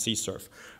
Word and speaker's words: CSRF: xsrf or a CSRF but typically it's pronounced c surf so if we perform